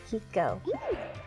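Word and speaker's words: Chicco: Today's show is sponsored by Chico. Do you mean Chico? No, Chico. It's spelled C-H-I-C-C-O, but it's pronounced Chico.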